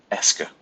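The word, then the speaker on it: est-ce que: means it means nothing it's just just pronounce it ESCA right and you just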